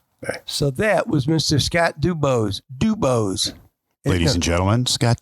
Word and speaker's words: DuBose: I think I said say D-U. Maybe. B-O-S-E, but he said, got to say it right. You got to say it the right way. DuBose.